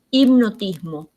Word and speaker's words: hipnotismo: Del inglés, por ejemplo, hamburguesa, hipnotismo, hurra, handicap, que ahí, acá por ejemplo no pronunciamos la H, hamburguesa, hipnotismo, hurra. La H está muda, pero en otras palabras,